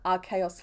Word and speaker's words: Arceus: we should name it Arceus Flying. Oh, yeah, sorry, for that pun to work, I have to pronounce it Arceus. As in, like, I see us flying, right?